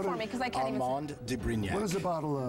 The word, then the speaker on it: Armand de Brignac: Pronounce it for me, because I can't Armand de Brignac.